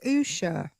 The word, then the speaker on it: Usha: Is his is his wife's name pronounced Usha? Mhm. Yeah.